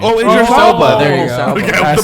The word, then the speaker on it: Idris Elba: wasn't, Idris Alba. Now that if that's who you're thinking of. Idris Elba.